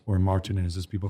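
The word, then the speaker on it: Martínez: It's Roberto Martinez, or Martinez, as people call him in this country.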